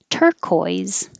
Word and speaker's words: turquoise: Turquoise, turquoise.